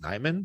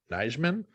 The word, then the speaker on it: Nijman: name as being pronounced Nyman, but recently Wes Hodkiewicz has started saying it as Nijman. So we got like the J coming back into it, which is like everyone just started saying it Nyman finally.